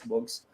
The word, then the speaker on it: Bugs: underscore books underscore books so it's spelled as bugs but um pronounced as books so okay i'm more